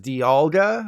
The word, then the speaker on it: Dialga: They're actually pronounced Dialga, like D from It's Always Sunny in Philadelphia, and Palkia, like the beetle.